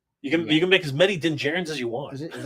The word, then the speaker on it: Djarin: You can't get a Din Djarin. You can make as many Din Djarins as you want. Is that how you say it? I always said Din Djarin, right? But I think that D is silent.